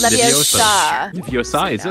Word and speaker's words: Leviosa: Levioso Tarapeutic. Oh. It's Leviosa. Leviosa, is it Leviosa?